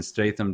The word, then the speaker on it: Statham: He's also from the UK, and he loves the way Jason, was it Statham? Is that how you pronounce his name? Mm-hmm. Loves the way Jason Statham does his American accent because his American accent is just his British accent, but deeper.